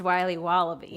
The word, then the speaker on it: Wiley Wallaby: Wally's wallabies wallaby Wally's will be wobba beats pronounced Wiley wallaby well it's very good it's called Wiley wallaby